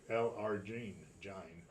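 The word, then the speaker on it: L-arginine: and one is the LRG LRG gin that's how you say it it's an amino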